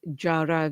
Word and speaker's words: Jara: My surname is pronounced as Jara, even though it's spelled as R, but that's the quirks of language, eh? Jahra.